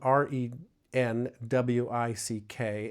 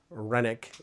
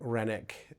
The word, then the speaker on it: Renwick: It is spelled R E N W I C K. It looks like it's Renwick, but I learned when I was there, Renick is the way that you pronounce it.